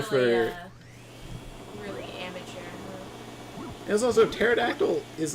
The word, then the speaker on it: pterodactyl: There's also pterodactyl is like spelled with a T, so it's like. Yeah, it's pterodactyl, you dumb fuck.